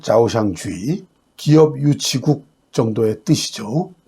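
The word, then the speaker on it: 招商局: 경제특구를 구상하게 된 중요한 계기는 중국 정부가 홍콩에 설립한 초상국, 중국 발음으로는 자오샹주의, 기업유치국 정도의 뜻이죠.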